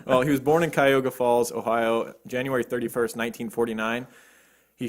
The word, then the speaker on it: Cuyahoga Falls: All right, so Bob Berdella, he was born in Cayuga Falls. How do you say that? Cuyahoga Falls.